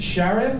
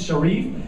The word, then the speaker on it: Sharif: are so oppressed he he pronounced my name sheriff and everybody knows it's Sharif and then like what's